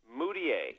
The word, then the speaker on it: Mudiay: the eye test now Emanuel how do you pronounce his last name mudiay mudiay mudiay now he chose to go to